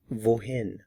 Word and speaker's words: wohin: So where to in German is wohin. Wohin. Notice the pronunciation of the W.